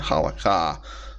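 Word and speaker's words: halakhah: k h a h or sometimes there's no h at the end halaka but I I leave the H at the end because it's there written in script written in the writing but not pronounced but anyhow we'll come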